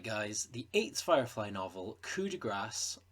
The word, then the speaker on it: Coup de Grâce: Alright guys, the 8th Firefly novel, Coup De Grâce, and yes, that's how you pronounce it, I looked it up, has just been announced.